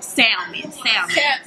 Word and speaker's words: salmon: You're not supposed to pronounce the L. Salmon.